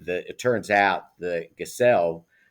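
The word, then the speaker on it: Gesell: uh lives in uh Villa gazelle uh Accent on the second syllable uh which is a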